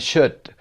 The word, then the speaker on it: should: to ooh listen and check which consonant isn't pronounced and should would and could cop but uh is national day okay it's the letter L which is not pronounced Hassan what should